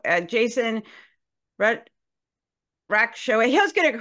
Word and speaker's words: Racheotes: And my last name is pronounced Racheotes. It is a Racheotes, thank you. classic Americanization of a Greek or, a foreign name.